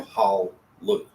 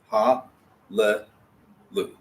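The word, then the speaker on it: הללו: Because we wouldn't want to go hal, lu. Because that doesn't feel right, it doesn't sound right, it just doesn't work. So we have to pronounce that schwa there. Ha, le, lu. Now we will often overemphasize the schwa there. Ha, le, lu. But it's really a ha, le, lu.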